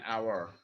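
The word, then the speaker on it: hour: যেমন এখানে আমরা আফটার অ্যান আওয়ার, এইচ এর উচ্চারণ আ, আর এইচ এর উচ্চারণ হ হলে আমরা কি বলবো, এ বলবো।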